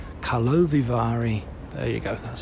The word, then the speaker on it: Karlovy Vary: first evening of the opening ceremony of the Carlo Vari Kalovari. There you go. That's how you pronounce it.